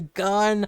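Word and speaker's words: Gunn: happen in the past someone's name that rhymes with fun his name his his last name is actually gun a James gun that's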